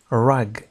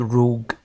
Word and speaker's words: rug: A rug. سألونها لتكون واضحة. Rug هي السجادة. Rug. لاحظوا النطق ليست روج أو ريوج إنما rug.